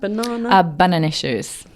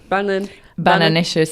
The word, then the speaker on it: Bananicious: Bananicious. Bananicious. Yeah. Yeah, it was supposed to be a sort of a play around between banana and delicious, so it just came up as bananicious.